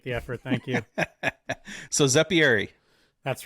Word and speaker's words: Zeppieri: How do you say that in, the native? Well, if I talk to someone that I like, that's really Italian, and I say Zeppieri, they're like, oh, you've like Americanized it.